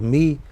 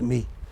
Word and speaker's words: my: My is pronounced as me because it is done in a hurry, it is done with little attention. So, the vowel is reduced and it becomes me.